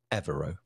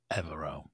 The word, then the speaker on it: Evero: touch and uh and confirmed that the correct pronunciation is evero evero that's good and just in passing about pronunciation